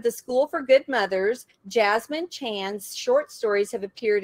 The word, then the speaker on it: Jessamine: And that is how you say her name. Yeah, it doesn't make much sense. My parents chose an unusual spelling, but they were trying to name me Jasmine after the flower.